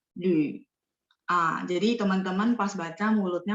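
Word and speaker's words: 缕: Lü, teman-teman lihat nggak? L, terus ada U.2 di atas. Bacanya mulutnya setengah bulat ya. Terus dia nada 3, Lü.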